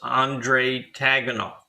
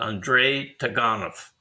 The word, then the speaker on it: Andrei Taganov: like you like me you think it's andre taganoff but she pronounces it andrei taganov and it's kira argunava